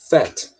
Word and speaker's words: fat: tá e pronúncia tá a pronúncia a gente vai falar esse a dessa vez com som de e tá fat em inglês é meio